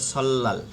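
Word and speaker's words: 설날: রিয়লের পরে নিয়ন আসলে লয়াল উচ্চারণ হবে সল্লাল, নববর্ষ।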